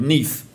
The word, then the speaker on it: Neith: and this is one called neath uh which is spelt they're down here neith this one here is